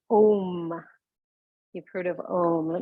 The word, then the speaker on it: Om: So Om, O-M, or sometimes you'll see it A-U-M, and we'll pronounce it today. We'll go A-O-M, we'll break it up into 3 parts.